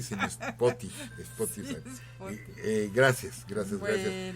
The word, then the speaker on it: Spotify: Creo que aquella vez lo pronuncié mal pero bueno, es Spotify. Creo a pronunciarlo correctamente, profesor. Sí, hizo la corrección nuestro amigo César Correa, que no era Sporty, sino Spotify.